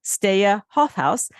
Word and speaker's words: Steije Hofhuis: On Twitter, you can find Steije Hofhuis at HOFHUIS So it's a unique pronunciation, Steije Hofhuis. And on LinkedIn, you can find him at the same, Steije Hofhuis, and that's STEIJEHOFHUIS.